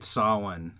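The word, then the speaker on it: Samhain: They would I'd want them to fight Sawan. Um, which is spelled Sam Hayne for anybody who's wondering what the I'm talking about.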